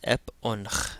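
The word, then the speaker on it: ⲡⲱⲛϧ: So this is ep onch. Again, that jinkum adds a short E sound before the P in Coptic.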